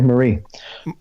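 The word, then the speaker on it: Marí: lead you to believe it's Pablo Marie okay Marie Marie has only been dribbled about 0.4 times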